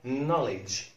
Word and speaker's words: knowledge: كلمة أخرى knowledge, knowledge, knowledge. لا معرفة ما اسمهاش knowledge اسمها knowledge, knowledge. السبب إيه؟ إن ال KN في بداية كلمة K لا ينطق.